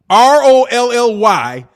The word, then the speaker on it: Rolly: the same way as lolly will you please stop saying lolly raleigh it's rolly man roll your raggety ass